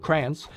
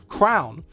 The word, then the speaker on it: crayon: are in the state, you might not actually pronounce it crayons. You could say crown. Yet, neither of these two groups in New Jersey pronounce it crayon, the way it's supposedly supposed to be pronounced.